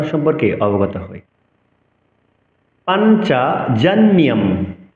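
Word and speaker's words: পাঞ্চজন্যং: পাঞ্চজন্যম অনুসার পড়ে থাকলে আমরা ম উচ্চারণ করব।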